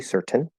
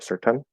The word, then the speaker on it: certain: So in certain, like in mountain, you could push out the T, certain. That's fine. Or certain. See, it sounds weird if I try to do a schwa.